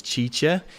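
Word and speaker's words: Cice: Her name is Chicha. She's going to be answering your questions. So you can go and say what's up to her. Her name is spelled C-I-C-E, Chicha.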